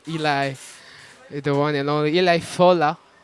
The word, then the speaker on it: Eli Fola: Guys, go follow Eli, the one and only Eli Fola. That's the right pronunciation. Yes. At the beginning, I was like, is it Eli? Is it Eli? It's Eli. Like I said, depending on your accent or where you come from, a lot of like